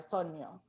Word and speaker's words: sogno: i think i think in italian it's sogno and it's pronounced very similar so neo um but it's just